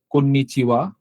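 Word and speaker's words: こんにちは: হ্যাঁ, সো এরপরে যেটা আছে সেটা হচ্ছে কন্নিচিওয়া। এখানেও আসলে একটু ব্যাখ্যা করার মতো জিনিস আছে। এটা হা, বাট কন্নিচিওয়ার সাথে এটা হাটা উচ্চারণ হবে ওয়া।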